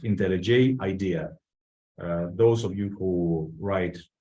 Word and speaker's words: IntelliJ IDEA: IntelliJ, that's the IDE that I'm going to use, is pronounced IntelliJ IDEA.